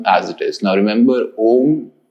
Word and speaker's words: Om: it is now remember om as a word needs to have three syllables uh uma so if you chanted